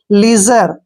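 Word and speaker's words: leisure: मात्रा पढ़ना है और जब भी एस से पहले आई आता है तो एस का उच्चारण ज करते हैं तो यहां पर एस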